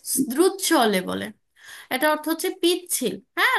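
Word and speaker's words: sdrucciolevole: লেবলে মানে হচ্ছে পিচ্ছিল উচ্চারণটা হবে দ্রুচ্ছ লেবলে এটার অর্থ হচ্ছে পিচ্ছিল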